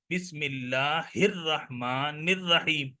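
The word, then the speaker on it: بسم الله الرحمن الرحيم: pronounce कर रहे हैं देखिए मैं बिस्मिल्ला अर रहमान अल रहीम तो ऐसा तो यह गलत हो जाएगा इसलिए कि सही क्या है बिस्मिल्ला हिर रहमान रहीम तो यह अलिफ लाम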